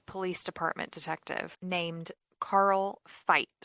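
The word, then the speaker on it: Fite: Department detective named Carl fight I believe it's pronounced it's fi te he ended up getting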